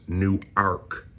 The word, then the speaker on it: Newark: am right now, and then there's New Arc, Delaware. Okay. So, there's a difference in the way that the two cities are uh pronounced.